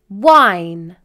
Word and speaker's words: wine: However, if we add the letter E to the end of the word, then the letter E is silent and the vowel makes a long I vowel sound. Wine.